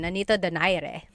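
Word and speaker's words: Nonito Donaire: So our first poll here is going to be Manny Pacquiao versus Nonito Daire or is in in the Tagalog uh pronunciation. Nanito Dire.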